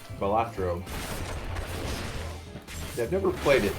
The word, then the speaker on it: Balatro: Or Balatro, I'm pronouncing it wrong. I'm putting the T before the A. Balatro.